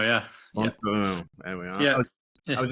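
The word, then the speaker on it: Font-Romeu: Fontfremaux, yeah. Fontfremaux.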